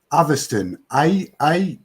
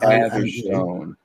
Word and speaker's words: Atherstone: What is it? Aveston? Atherstone. So if it's just spell it ATHER. Atherstone. STONE. Avestone.